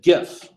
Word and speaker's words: GIF: might want to save I am going to still pronounce it gif I don't care what the author or the guy who actually made that file format says it is not giraffic image file it is G graphic image file he wants to